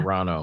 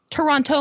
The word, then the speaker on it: Toronto: Toronto. Yeah. No. It's not Toronto. Toronto. Toronto is a dirty word. Did you see Toronto Man? Toronto Man.